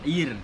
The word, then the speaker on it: Air: Ir. ir, Air. air. I'm trying to get the pronunciation right because I've been coming here for so long, and I still don't believe I did.